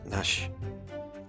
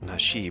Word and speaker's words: nashi: The Japanese word for pear is nash. Not nashi, but the I is silent, so nash.